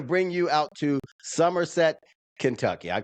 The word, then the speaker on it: Somerset: we're we're going to bring you out to Somerset, Kentucky. I call it summer set because it's not summer, it's summer. It is the way it's spelled is summer, but it's actually Somerset.